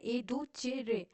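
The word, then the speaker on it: educere: में मदद करता है एडु केरे इसको प्रोनाउंस करते हैं एडू चेरे meaning to lead out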